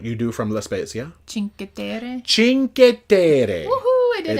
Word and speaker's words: Cinque Terre: Do you remember how it's pronounced with what you do from La Spezia? Cinque Terre.